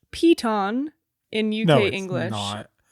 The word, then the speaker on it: piton: It's pronounced peton in UK English.